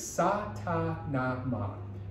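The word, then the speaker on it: Sa Ta Na Ma: And the mantra is Sa-ta-na-ma. S-A-T-A-N-A-M-A. Sa-ta-na-ma. This represents a cycle. This is a beginning, this is a middle, this is an ending, and a recycling of it. This is Sa-ta-na-ma.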